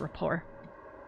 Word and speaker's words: rapport: I think it's rapport.